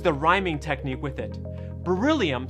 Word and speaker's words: beryllium: Beryllium starts off sounding like brrr, like you're cold. And as a whole, beryllium rhymes with the name William.